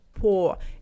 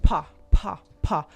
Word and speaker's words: по: When stressed we say or when it's not stressed we say a. So we don't say по po. It's more like па.